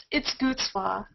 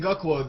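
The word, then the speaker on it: Gucwa: It's Gutzwa. Gutzwa. No one ever gets it right. Yeah, it's Gutzwa. It's like OOTZ instead of what you actually say.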